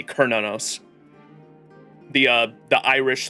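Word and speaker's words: Cernunnos: And you would want to say like cernos, but it's spelled uh almost like a it's pronounced with a K. Kernanos.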